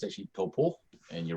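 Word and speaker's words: Taupō: it, and he said it's like toe, like the toe you have on your foot, and then paw, like a bear paw, toe paw.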